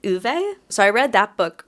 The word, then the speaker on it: Ove: called I believe in the audio book they pronounced it uve so I read that